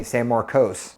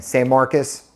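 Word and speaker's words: San Marcos: Sam Marcus or you guys like to say s Marcos Again Sam Marcus is the correct pronunciation and then one of my favorites is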